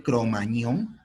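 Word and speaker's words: Cro-Magnon: francia no en la zona de cromañón así se pronuncia el cromagnon que está en francia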